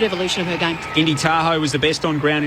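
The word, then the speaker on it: Tahau: She told her teammates during the week that her name is pronounced Tahoe. It was the first they knew. They've been calling her Indy Tahoe all season.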